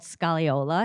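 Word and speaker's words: scagliola: and it is called scalla it has a g in there but the g is silent um and because I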